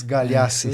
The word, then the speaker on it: Galeassi: Soube agora a pronúncia correta, porque eu sempre chamei ele de, mas é Galhaço.